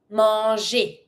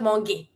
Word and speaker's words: manger: Manger. Not monger. G plus E makes the sound j.